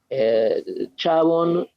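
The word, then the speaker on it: Chabon: hay mucho interés sobre el tema Bueno pero chavon Michael chavon los libros están por lo menos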